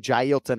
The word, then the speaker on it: Jailton: up on this name, Jailton Almeida, and the nickname is Malhadinho, That's a challenging name, It's a challenging name. Yeah, but it's Jailton. We're going 3 syllables on the first name.